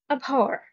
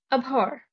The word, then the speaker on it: abhor: inactivity recess suspension dormant abhor abhor the stress is on the second syllable to abhor means to